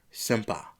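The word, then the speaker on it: senpai: Asuka then says all you had to do was apologize and acknowledge her as your senpa.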